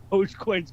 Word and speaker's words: Dogecoin: G Dogecoin yeah which dogecoins gone from 13 cents to 40 cents yes no that's that's the first thing I thought of was uh doggy but you're right you're pronouncing it correctly Dogecoin and uh Doge that's